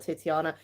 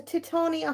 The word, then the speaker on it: Titania: we have these titiana it's not titiana well these are officially called uh I still can't say it how do you say that right these are Titania holidays anyone ever heard